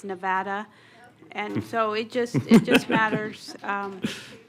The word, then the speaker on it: Nevada: So the way that the state pronounces his name is Nevada, and so it just matters.